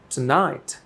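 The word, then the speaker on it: tonight: একটু স্ট্রংলি উচ্চারণ হচ্ছে আর নাইটের উচ্চারণ স্ট্রেস হচ্ছে এখানে টুনাইট টুনাইট যেন মনে হচ্ছে যে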